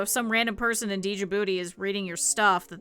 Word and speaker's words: Djibouti: And he would always talk about how, not TJ Booty, Djibouti.